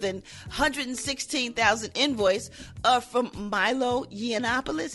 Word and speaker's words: Yiannopoulos: $116,000 invoice from Milo Yiannopoulos. Is that how you say his name? Yiannopoulos? Yeah.